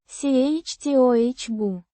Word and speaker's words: чтобы: Pronounced. chtoh-buh.